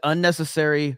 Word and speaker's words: unnecessary: It's just you put the emphasis on the wrong syllable.